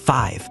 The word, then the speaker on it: V: It's pronounced 5.